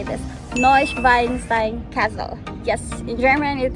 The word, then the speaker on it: Neuschwanstein: today we are in how to say this noise weinstein castle yes in germany it is called neuschwanstein castle and this is the most famous castle